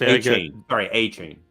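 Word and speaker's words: Achane: Yes, A-Chain.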